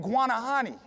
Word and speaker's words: Guanahani: The natives called it Guanahani.